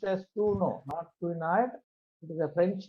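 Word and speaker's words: Couinaud: L classification and Kuno it is to be pronounced as Kuno Noto it is a French name so it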